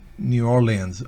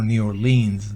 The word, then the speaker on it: New Orleans: Ok margin es en New Orleans o New Orleans depende de donde se pronuncie ambas pronunciaciones usted las puede escuchar New Orleans o New